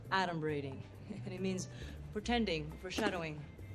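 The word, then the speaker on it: adumbrating: this look at this 38 points for me a d braiding that's not even a word okay first of all it's pronounced adom braing and it means pretending foreshadowing H guess who's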